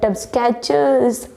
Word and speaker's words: Skechers: It's not a scratcho. It's a Skechers, guys.